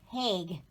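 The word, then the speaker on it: Haig: see what is it it is h-a-i-g i think it's pronounced hague but what got me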